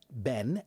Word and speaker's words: been: Ben. E. Ben uses the sh uh the short e.